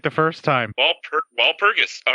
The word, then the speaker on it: Walpurgis: night on thursday holy you pronounce something right is that real wall progress wall purges you said it right the first time paul walpurgis all right cool lund could very well become